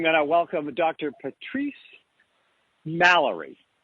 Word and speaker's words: Mallory: Patrice Mallory. And I think I just pronounced Malloy.